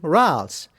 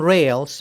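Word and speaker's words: râles: them crackles or actually ralphs now make sure you don't call them rails because ralph's is french and that's the pronunciation if you are from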